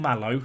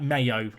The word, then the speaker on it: Malo: Someone told me that this guy is not called Malo in episode 2, so I apologise for the fact I forgot that this was mentioned. His name is said like Mayo, like mayonnaise, is what I've been told.